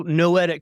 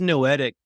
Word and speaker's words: noetic: So Noetic Consulting, what does Noetic even mean? Thank you for asking that. A lot of people do not know that it's a word. It is a word in the dictionary, rhymes with poetic.